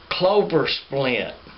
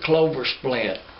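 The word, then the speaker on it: Closplint: coal mining community called Clover Splint. But they spell that C-L-O-S-P-L-I-N-T. But we always called it Clover Splint.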